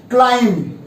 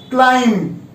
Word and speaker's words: climb: तो जिन लोगों ने क्लाइंब बोला इट्स बैंग ऑन, और जिन्होंने क्लाइंब बोला उनको बता दूं कि इसकी सही प्रोनाउंसिएशन जो है वो है क्लाइंब। फिर से क्लाइंब, SUCCUMB, सकम।